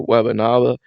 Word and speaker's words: Wembanyama: And Defensive Player of the Year was Victor Wembanyama.